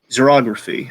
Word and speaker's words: xerography: He used, I want to butcher how this is pronounced, xerography. And there's I think, hey, I got it right. Well, Xerography, xerography yeah, that's right.